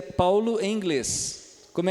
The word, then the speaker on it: Paul: Então, ao ver um L aqui no inglês, a gente vai fazer a mesma coisa, vai ficar Paul.